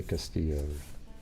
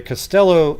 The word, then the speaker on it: Costello: anyways doesn't that sound I think it's Costello I might say Castillo hold on I'm just kind of when I get it's Costello not because yeah so at the Costello event where she had